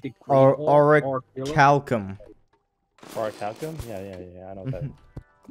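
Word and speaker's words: Orichalcum: I just searched it up, and that's how it says that's how it's pronounced. So it's auricalcum. Well, they're narcissistic. That is so narcissistic of you to say auricalcum.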